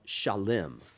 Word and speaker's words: Shalem: And this land is a place called Shalem, which we would today pronounce as Salem.